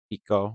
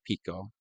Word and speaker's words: Pico: Pico, we call him. Not like Pico de Gallo, but Pico. I think it's spelled the same way, but we don't put him on nachos or burrito bowls.